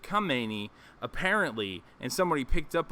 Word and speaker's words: Khamenei: tweeted the wrong guy he said the wrong name he said Khomeini instead of come meny apparently and somebody picked